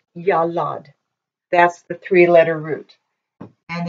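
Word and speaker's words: ילד: went over this yo Roman dollop and it's pronounced yellowed that's the three-letter root and if you put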